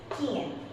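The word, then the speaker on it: quien: The second example I am giving you is Kien. Kien. K sound is coming. Appear with U and followed by I or E.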